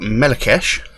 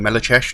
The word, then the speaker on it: Melechesh: this track before it's a band called Mela kesh on mellow chesh depends how you want to pronounce it and it's they are